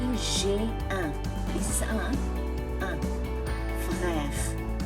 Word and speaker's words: frère: This is un frère. Stress at the R.